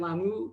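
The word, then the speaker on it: Lamu: team to compete in a race held in la mu kenya is that pronounced right yeah and she's currently sailing on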